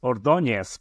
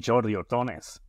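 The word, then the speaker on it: Ordóñez: surname as it is it's ordones but you don't have the N sounds so I'm usually jordones and you did the end I'm a California boy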